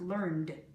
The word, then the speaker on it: learned: Learn, learned. It's pronounced learned.